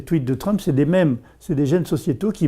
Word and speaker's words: mèmes: Selon Richard Dawkins, un grand biologiste anglais, il a proposé l'idée que des mèmes, ça s'écrit comme gènes, mais mèmes, M-E accent grave M-E, sont des gènes sociétaux